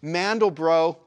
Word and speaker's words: Mandelbrot: My buddy had a Windows computer, but what I can remember us doing was we got one of those early Mandelbrot. Is that how you pronounce his name?